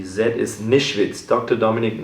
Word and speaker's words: Nischwitz: I mean, so it's can you pronounce the surname for me? Dr. Dominik? This one? Yes. Nischwitz is Nischwitz. Dr. Dominik Nischwitz is my name.